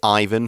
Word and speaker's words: Ivan: big letter G so you can say Ivan for this name but I think in Russian Yvonne is more how you pronounce it and Russian is important